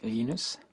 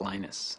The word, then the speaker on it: Linus: exact your preferred pronunciation um when I speak Swedish it's lenus when I speak Finnish it's lenus when I speak English it's lonus and I really don't